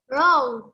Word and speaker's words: round: When you say the word round, you have to also make your mouth round. Open your mouth. Show me your mouth. Round again. Round. Oh, pronounce letter N and letter D.